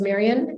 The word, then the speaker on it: Marian: website I mean my my name is Marion and it's spelled m-a-r-i-a-n just think the librarian so Marion at Ministry